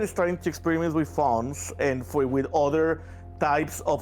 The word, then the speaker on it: Fauns: How do you pronounce that? Fawns?